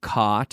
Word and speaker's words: caught: baseball caught okay and the pronunciation is aunt aunt aunt aunt it's the same as ot like in the word not I'm Canadian I am